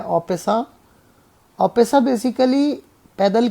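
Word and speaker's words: en passant: एन% capture actually French word है, उसे pronounce किया जाता है ऑपेसा।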